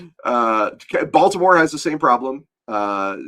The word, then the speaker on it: Baltimore: Uh Baltimore has the same problem. Uh if you're you know people that live in Baltimore a long time just call it bomber for example.